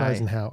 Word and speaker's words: Eisenhour: It's spelled Eisenhower. I know. Yeah. Yeah. Yeah. But it's Eisenhower.